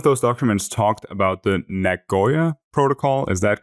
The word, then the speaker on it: Nagoya: and some of those documents talked about the Nagoya protocol is that correctly pronounced yes it is yeah yeah yeah yeah